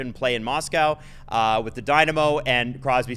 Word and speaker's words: Dynamo: But he said he wanted to play for Domino Moscow. Is that how you pronounce it? Dynamo Moscow.